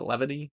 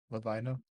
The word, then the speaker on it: Lavina: How are we saying we're pronouncing that? Levany? Lavina.